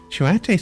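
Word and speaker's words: Choate: Shoate sounds like a Native American word. Are what come to mind if I think of a late American boarding schools. I've never heard of those before. Rhymes with oat.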